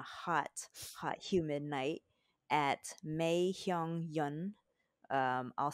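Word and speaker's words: Mai Heong Yun: And we got this yummy delicious on a hot, hot, humid night at Mei Hyung Yun. I'll spell it out.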